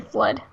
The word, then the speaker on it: FLUDD: It's definitely Flood. Yes, it is. All right. And it's spelled so like FLUDD, I think.